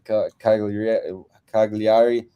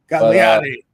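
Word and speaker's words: Cagliari: Kag Kagiari. Anyway, however you pronounce that one. Sorry, I butchered that name. Kagliari.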